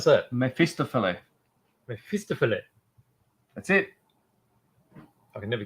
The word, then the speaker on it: Mephistopheles: So So how do you pronounce that? Mephistopheles. Mephistopheles.